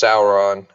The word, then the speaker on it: Sauron: I pronounce different, Stan, in Lord of the Rings. It's pronounced Sauron.